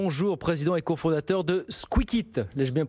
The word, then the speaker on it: Squikit: Bonjour, président et cofondateur de Squeakit, l'ai-je bien prononcé?